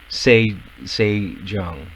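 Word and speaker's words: Sejeong: saying her name wrong s e j e o n g say say john i thought i'm i'm gonna say zhang just because it's easier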